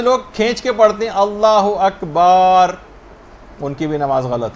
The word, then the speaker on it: اللہ اکبر: جو آپ کہیں گی۔ بہت سارے غلط تلفظ لوگوں کے اندر رائج ہیں، مثلا اللہ و اکبر، اللہ اکبر ہے، یہ اللہ و اکبر نہیں، اگر کوئی ایسے کہہ رہا ہے اس کی بھی نماز باطل۔ بہت سے لوگ کھینچ